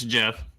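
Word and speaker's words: Geoff: Okay, and so is the other person we have is Jeff, but do you pronounce it Jeff? No, it's Jeff. So Jeff with a G.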